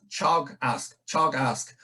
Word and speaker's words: Teagasc: So Teagasc, what is it? It's pronounced Teagasc, and it means instruction or knowledge or learning. So it's a Gaelic word and it means instruction.